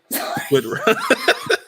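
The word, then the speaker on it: Wittrock: Yes, Whitrock. That's how you say it. Okay. Whitrock.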